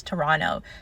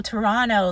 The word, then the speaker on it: Toronto: we're like, "No, like you don't pronounce the T at the end." And then he was like, "Oh, Toronto, like Sorrano, the Italian bread."